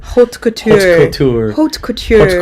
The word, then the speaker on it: haute couture: Haute culture. Haute couture.